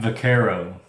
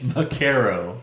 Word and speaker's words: vaquero: Pronounce it correctly then. Vaquero. No, that is no. No. You sound like somebody that's going, tacos! I like tacos! It's Vaquero.